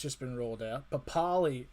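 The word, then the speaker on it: Papalii: been rolled out but pali or papa lee as they're now pronouncing it because it's now the correct the correct way uh isn't it is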